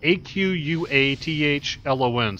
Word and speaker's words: aquathlon: It's spelled AQUATHLON, so there's no extra A, so it must be aquathlon.